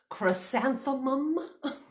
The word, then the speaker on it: chrysanthemum: Can anybody say chrysanthemum? Chrysanthemum. 4 syllables.